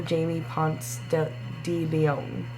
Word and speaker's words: Jaime Ponce De Leon: Jaime Ponce De Leon.